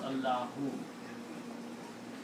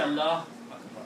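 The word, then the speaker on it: اللهُ: If the word is in the middle of the sentence or beginning of the sentence, you have to pronounce the whole word. You have to pronounce Allahu. You cannot say Allah Akbar. You cannot say. You have to make the full pronouncement.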